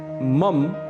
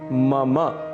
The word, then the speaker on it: मम: इसे मम बिल्कुल भी नहीं कहना है। इसका शुद्ध उच्चारण है मम। मम अंत में अ की ध्वनि अवश्य आनी चाहिए।